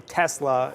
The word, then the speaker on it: Tesla: his background as Serbian, based on how they pronounce it, it's apparently S, which makes sense. How it looks is how it's pronounced. A Tesla is supposed to be how it is.